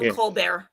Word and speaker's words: Colbert: uh coar signal I guess that's how you pronounce his name. Colbert Coar. Yeah. Steven Steven Colbear.